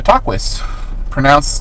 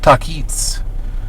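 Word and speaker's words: Tahquitz: And they went to the river source in the San Bernardino Mountains of the camp of the Taquis. It's actually pronounced Taquits, to the Kahula of Agua Caliente, which is another tribe that was in this area.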